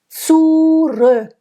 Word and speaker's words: zurück: Zurück. There in German there is a closed U and an open Ö. So it has to rhyme with Glück. So zurück, same thing.